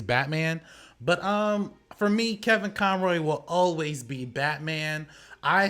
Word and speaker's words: Conroy: Well, I think you kind of took it the easy way out by going with Connolly. That's how you say it. Conroy.